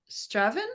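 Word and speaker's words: Strathaven: looks like isn't it if you miss out the middle three letters you'll be fine straven stra yeah nearly nearly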